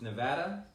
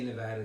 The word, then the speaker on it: Nevada: You know, even when I say Nevada to this day, I want to say Nevada. I know, because it's just we're in from New York. Yeah. I still think Nevadans say it wrong. I just think it's like a hippie Nevada thing.